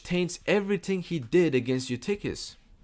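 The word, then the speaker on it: Eutyches: Anti-Chalcedon response, Flavian was tainted by Nestorian sympathies, though which taints everything he did against Eutychius. Eftichius, that's really how it's said, but that will be too confusing.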